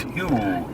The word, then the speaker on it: Hugh: Pronounced Hugh.